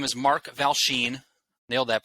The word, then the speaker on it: Valchine: His name is Mark Valchine. Nailed that pronunciation of the last name, didn't I, Mark?